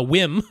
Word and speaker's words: WiiM: doesn't the wi uh whim they want to pronounce whim whim AMP pro does